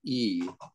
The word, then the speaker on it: 易: The transliteration with the alphabet is Y and I at the fourth tone, but the Chinese don't pronounce the Y.